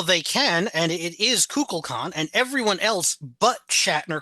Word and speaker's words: Kukulkan: well, they can, and it is Kukulkan, and everyone else but Shatner calls it Kukulkan There's someone else.